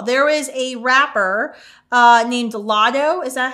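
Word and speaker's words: Latto: There was a rapper named Lotto. Is that how you pronounce her name?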